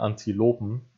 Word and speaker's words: Antilopen: Er sagt dann auch Antilopen, beziehungsweise sagt er Antilopen, also so wie man es richtig ausspricht, aber genau da passt dann halt nicht ganz, weil er müsste eigentlich, damit es von der Betonung noch besser passt, müsste das A bei Antilopen stärker betont werden wie das O bei Lopen.